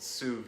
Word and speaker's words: sous vide: old tap water so so the cooking method is called sued SED is how you say it s o u SV d e it's a it's a French word means under vacuum fancy